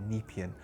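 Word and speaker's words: Nepean: the edge of the nepan I keep saying it wrong uh I think it's nepan NE e p a n nepan the nepan river to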